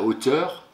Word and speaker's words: hauteur: O, c'est la hauteur, attention, il y a une lettre muette au début, hein. H, le son O de O s'écrit A-U, et quand on parle de la hauteur, en haut, il y a une lettre muette, un T à la fin de hauteur.